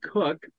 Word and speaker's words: Koch: I've always known it's cook and here I am I open the interview with Coke cook K C but it's pronounced cook Cook are you